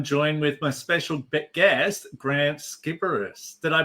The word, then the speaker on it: Grant Sciberras: I'm your host, Will Wheeler, and today I'm joined with my special guest, Grant Skipperus. Did I pronounce it?